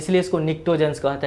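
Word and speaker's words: pnictogens: हैं, इसको कहते हैं निक्टोजेंस। निक्टोजेंस, पी भी साइलेंट है, सी भी साइलेंट है, निक्टोजेंस कहते हैं।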